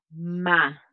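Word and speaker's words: 間: Entonces hay una palabra especial llamada ma. Que se pronuncia MA y MA es un intervalo en el tiempo o en el espacio.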